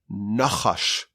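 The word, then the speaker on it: נחש: Now, what's the Hebrew word for a snake? It's nachash. Nachash. A nun, a ches, and a shin.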